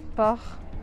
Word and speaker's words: port: Por exemplo, port tem o R do francês e eu não falo o T.